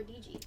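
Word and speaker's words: Deedge: Is it Deej or DG? right here. We've always Yeah, said there it is. Deej. We've always said Deej, a monosyllabic pronunciation.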